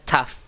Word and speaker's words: tough: usually find a way to compromise. Oke, that must be tough katanya. Ini bacaannya bukan to ya. Ini bacaannya tough. Oke, tough. Nah, ini bacaannya sori. Sori ini bacaannya tough ya.